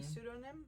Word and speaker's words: pseudonym: A pseudonym?